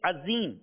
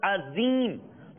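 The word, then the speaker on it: عظيم: And if a person pronounces Azim, so if someone says Azim instead of Azim, with a za instead of Allah in Subhana Rabbiyal Azim, his salah will become invalid.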